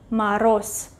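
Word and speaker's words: мороз: you hear maros yes it is written voiced consonant z maros but it is pronounced as s glass glass glass rascas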